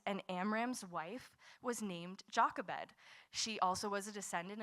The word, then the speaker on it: Jochebed: Now, Jockabed, pronounced in Hebrew, it would be Yakaved, uh, means Yahweh is glory or the Lord is my glory.